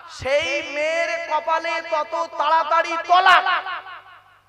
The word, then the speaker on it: তালাক: যত বেশি চালাক সেই মেয়ের কপালে তত তাড়াতাড়ি তলাক কি বললাম তালাক নয় তলাক তালাক মানে জুড়ে যাওয়া মিলিত হওয়া একত্রিত হওয়া